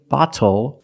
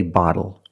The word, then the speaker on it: bottle: That's why we do not say little, we say little. And we do not say bottle, we say bottle.